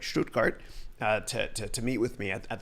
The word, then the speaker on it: Stuttgart: all drove six hours from Schrute carts I'm pronouncing that right this time right Stuttgart to meet with me at the conference and